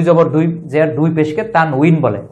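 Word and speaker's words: تنوين: দুই জের দুই পেশকে তানউইন বলে, অনেকে বলে তানবিন, তানবিন উচ্চারণটা ভুল, তানউইন, কারণ ওয়াও এর নিচে কাসরা আছে, জের থাকলে এর উচ্চারণ হচ্ছে উই, তানউইন।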